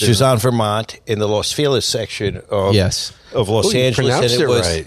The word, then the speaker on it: Los Feliz: Dresden Room which is on Vermont in the Los FIS section of of Los Angeles proun it right you pronounced it right I don't say Los Feliz